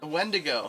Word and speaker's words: wendigo: mythological oh thing oh yeah how do you pronounce it wendigo okay well that's it the yeah yeah there's